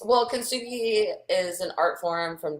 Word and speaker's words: kintsugi: Let me clarify, because You said it correctly for the American pronunciation. If Gotcha. you were to speak it in like a native Japanese inflection, it would have like a little bit different sound, but you I thought got you were it.